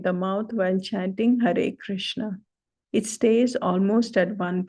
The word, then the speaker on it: Krishna: The short a in Hare, short a in Hare, Krishna and Rama is close like in but.